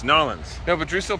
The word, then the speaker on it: New Orleans: you're in New Orleans it's not New Orleans it's norleans no but Drew still